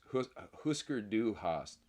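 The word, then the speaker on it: Hüsker Dü: Husker Du Hast. What about a band just called Umlaut, but you spell it out?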